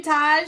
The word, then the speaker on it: Taj: Oh, no, Taj is how you say it.